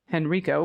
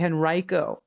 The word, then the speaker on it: Henrico: Just a minor pronunciation of the place Henrico, which you pronounced Henrico, which I just did. It's actually Henrico.